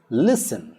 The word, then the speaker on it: listen: english then we have the t is silent in words like listen listen carefully not listen